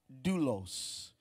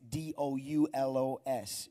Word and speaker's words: doulos: When you look at the word servant in the Greek, it's pronounced doulos. And for my note takers, because I know Utopia is taking notes right now, that is D-O-U-L-O-S, doulos.